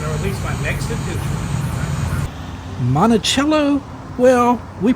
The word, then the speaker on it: Monticello: Monachello. Well, we pronounce it Monosellar around here.